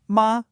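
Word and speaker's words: 马: Let's take the classic example, the syllable ma. With that high flat tone, ma, it means mother.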